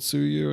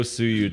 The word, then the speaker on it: suyu: Fork of Yuzu called suyu and it already got taken down see that yeah don't don't hire those that's weird no suyu devs yeah it's corny is it called suyu because like they think